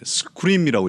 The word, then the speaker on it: SQream: 솔루션 이름을 SQRIM이라고 읽습니까? 아니면 어떻게 그런 질문을 한 100번은 받은 것 같은데 네, 스크림이라고 읽습니다. 누가 봐도 어떤 SQL과 관련이 있는 것으로 보이죠.